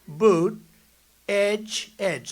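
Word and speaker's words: Buttigieg: know years ago I said how do you pronounce that damn name and they said boot edge edge the word edge edge that's the way it's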